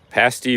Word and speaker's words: pasty: don't know but pasty rhymes with nasty okay I'll have to